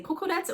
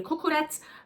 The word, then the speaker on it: kukurec: So here they say kukurec, well, I'm sure I pronounce it wrong. In Turkey, kokorec, here kukurec, in Greece, kokoreci.